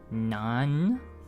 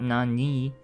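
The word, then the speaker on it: 何人: character on the right this is actually pronounced none not non-ni but none and this is asking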